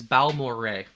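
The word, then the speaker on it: Balmorhea: in the Dallas area it is balmorray balmoran I didn't know that okay balmory so I've got the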